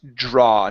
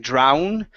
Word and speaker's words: draw: Okay, the other one here is draw. Now here you were saying drown, okay, and drawing, okay? With the AW, that's only going to be an ah sound as well, okay?